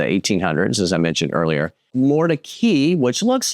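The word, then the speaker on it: Mordecai: As I mentioned earlier, Mori, which looks like, it should be pronounced Morai, but another historic district, quirky character homes, local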